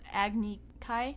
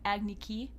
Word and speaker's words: Agni Kai: along i think yeah another thing they pronounced wrong was agni kai they pronounced it agni ki and that pissed me